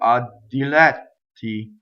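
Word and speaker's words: diletti: Double D, because the word a is a strong monosyllable, right? So, ddilɛtti. So, it just trips along very nicely, right? It's not not short. Ddilɛtti.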